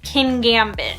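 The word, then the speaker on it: Kingambit: scary looks pretty intimidating whose name reminds me of when people try to pronounce petmart and PetSmart but I believe it's supposed to be king Gambit which is a dark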